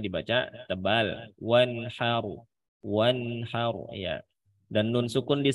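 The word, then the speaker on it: وانحر: Tinggal roknya di belakang ditebalkan sedikit lagi. Wanhar, wanhar itu tipis, wanhar itu tebal. Dibacanya roknya tebal.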